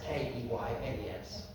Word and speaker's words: Keynes: She was like, "Excuse me, I know it's spelled Keynes, K-E-Y-N-E-S. But here in the village, we prefer to pronounce it Keynes.